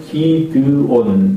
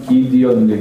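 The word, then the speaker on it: Gideon: 뭐냐면 우리가 보통 한국말은 기드온 이렇게 이야기 기드온이라는 사람이에요 사람 이름 영어로 하면 기디온 기디온 그렇게 말하 발음하지만 뭐 기드온 그래도 별 상관없어요 혹시 한국의 호텔은 잘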